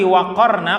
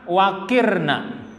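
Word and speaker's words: وَقَرْنَ: Qaf yang bersukun tadi kan ra-nya yang depan dibuang, berfathah. Fathahnya dipindah ke qaf. Jadinya bacanya waqarna. Berarti arti waqarna kalau dibaca qaf artinya tetaplah, tinggallah. Lalu kalau dibaca waqirna, yaitu dari kata waqara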